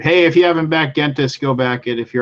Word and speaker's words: Gentes: A lot of people say Gentis, and then the more like Latin-y, academician way to say it is Gentis.